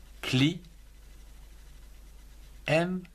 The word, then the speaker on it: climat: Le climat, C-L-I, cli, M-A-T, le climat.